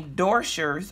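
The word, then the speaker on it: Doscher's: week this candy company door shirts I think that's how you pronounce it do sche r apostrophe s they were featured on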